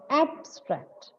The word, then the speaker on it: abstract: syllable and it is abstract. It is abstract. When the word is used as a verb, it becomes abstract.